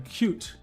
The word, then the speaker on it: Qt: Now Creda moved eventually I guess or it uh it's built on something called cute. It's spelled QT.